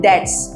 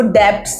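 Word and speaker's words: debts: आई पे माई डेट्स, इसमें जो बी है डेट्स में साइलेंट रहता है, इसको क्या प्रोनाउंस करते हैं, डेट्स, ओके, इसको डेब्ट्स नहीं बोलते हैं।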